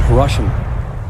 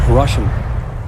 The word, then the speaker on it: Hiroshima: On August 6th, the A bomb fell on Hashima. Then on the 9th, Nagasa. I'm sorry, that's not Hiroshima. He said Hashimi. That's not Hiroshima. That's not how you pronounce that.